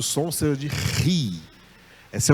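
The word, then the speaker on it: ρ: Só que a pronúncia dela vai ficar assim meio parecida com a letra R em português, tá? Ri, ri, ri. E acompanhada de qualquer vogal vai ser Ra, Ré, Ri.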